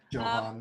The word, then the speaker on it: Johan: Pronounce with the hard J. Johan.